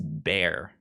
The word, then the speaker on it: Bexar: antonio texas it's pronounced bear bear roots they're roots why do they have the x there then well i was going to say like what's another word that has a silent x xylophone i guess is